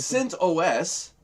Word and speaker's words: CentOS: Yeah, which is pronounced Cint OS. Yeah, but everybody in our world calls it Cintas because we're all like, Yeah. most people in the States call it Cintas, even though it's CentOS.